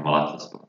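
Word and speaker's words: Malatyaspor: Then we come to this club from Malatya, Yeni Malatya Spor. Nothing special about them also. Did I get the pronunciation right? Right, yeah, Malatya Spor.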